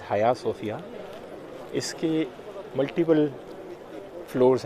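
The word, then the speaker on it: Hagia Sophia: इस बिल्डिंग के, जिसे हम हाया सोफिया कहते हैं, लोग इसे हागिया सोफिया भी पढ़ते हैं, हाजिया सोफिया भी पढ़ते हैं, बट the actual pronunciation is हाया सोफिया।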